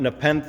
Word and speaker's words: Nepenthe: Come check out Nepenthe.